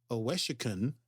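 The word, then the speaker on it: Owosekun: case there's some exciting back and forth but oesen is how it's pronounced OES and Detmer yes uh managed to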